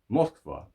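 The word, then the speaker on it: Москва: And when are we going to start calling Moscow Moskva? Because that's how you say it in Russian, right?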